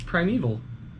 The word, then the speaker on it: primeval: It has an A at the end. It's primeval. EVIL is evil. EVAL. Primeval.